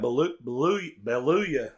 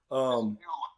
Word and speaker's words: Beulah: Hey, Coach, this week you got Beluga. I think that's how you pronounce it, Coach. Beulah. It's country town. Beulah. Okay, Beulah.